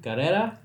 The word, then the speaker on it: Karera: Today we are reacting to BINI, Karera.